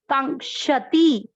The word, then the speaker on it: कांक्षति: आधा का और श पूरा, कांक्षति।